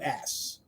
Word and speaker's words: Flaccus: And actually, and I could be pronouncing it wrong, but I'm pretty sure that phonetically it is Flockus. Flackus. Maybe it's Flackus. How do you spell it? It is it's Flaccus. Flockus.